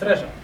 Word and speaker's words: Raja: It's Raja, but Okay, Raj. I thought it was. Raj. A lot of people call me Raja. It's just easier. All right, I don't like to It's the mispronounce. American way to say it.